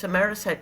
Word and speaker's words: Amarasate: So, I inherited Amarasate, but it's Amarasate.